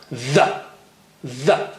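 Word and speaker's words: ظ: Here it is with a stronger sound. The. Okay? Take just a millimeter out. Don't take big part of your tongue out.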